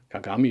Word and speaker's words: kagami: Kagami is made of 3 syllables: ka, ga, and mi.